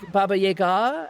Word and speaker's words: Baba Yaga: Or like Baba Yaga, and like the ga is supposed to be stressed more than the ya, because people say Baba Yaga, right?